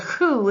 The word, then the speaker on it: who: that w h because in this word the w is silent and the h is its sound right very uncommon spelling